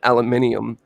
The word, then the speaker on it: aluminium: he cause it oh these guys call it aluminum and we call it aluminium but that's because that's how it's it's spelt it's spelled aluminium we we say it how it's spelt but you say but